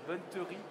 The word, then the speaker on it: bonneterie: Aymeric Brousseau, président de Brousseau Textile, la chaussette, la bonneterie. Bonneterie, c'est la bonne prononciation.